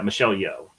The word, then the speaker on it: Michelle Yeoh: Yeah, Michelle Yeoh.